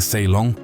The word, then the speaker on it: Ceylon: A pronúncia de Ceylon soava muito parecida com a palavra salão.